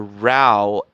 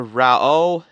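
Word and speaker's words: Raoh: So, because of the pronunciation of the character Rao, or Rao, as in you pronounce it as Ra and O in the pronunciation for the character Rao in the Fist of the North Star series, that's why.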